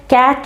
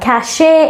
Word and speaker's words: cache: এটাকে অনেকেই ভুলে ক্যাচ বা ক্যাশে এরকম উচ্চারণ করে থাকেন। এটা সঠিক উচ্চারণটা হচ্ছে গিয়ে ক্যাশ। The correct pronunciation is ক্যাশ।